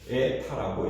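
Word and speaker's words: η: 근데 요걸 어떻게 이제 그리스인데 에타라고 읽어요.이 n에 n하고 비슷하죠. N 예 에타라고 거예요.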